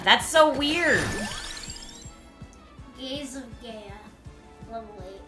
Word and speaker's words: Gaia: Oh, Google says the American pronunciation is Gia. Gaze of Gia. That's so weird. Gaze of Gaia.